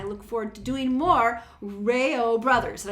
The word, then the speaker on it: REO: forward to doing more rayo brothers and i think i'm saying it right because i was thinking of the reo speedwagon the first time but it's the rail brothers as i was corrected so i always appreciate